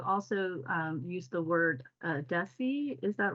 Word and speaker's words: Desi: I believe you also use the word uh Desi is that right am I pronouncing that correctly yeah could you talk about